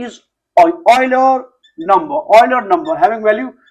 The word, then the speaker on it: Euler: And you must be familiar, e is Euler number written as Euler, pronounced as Euler.